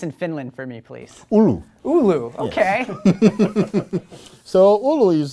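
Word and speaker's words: Oulu: so let's talk about uh what's next where pronounce the name of the place in Finland for me please ulu ULU okay so ULU is a very nice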